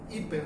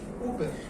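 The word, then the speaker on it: ὑπέρ: La palabra por en griego se pronuncia hiper o uper.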